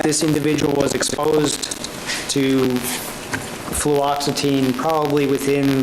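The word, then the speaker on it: fluoxetine: like this okay now uh fluoxitine am I pronouncing that right fluoxitine yes ma'am and uh Topiramate are associated with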